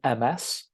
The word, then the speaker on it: Ms: And then finally, if you don't know if the woman is single, young, married, or whatever, you would just say Ms. Okay, so it's spelled MS, but it's pronounced Ms.